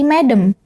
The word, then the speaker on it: Madam: Noah bukan jadi memang itu adalah singkatan dari medem yang menghentikan kita memanggil seseorang yang lebih tua